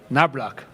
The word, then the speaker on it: Knoblauch: Knoblauch, and the Americans pronounce it Nablak. Because just the CH becomes a K immediately.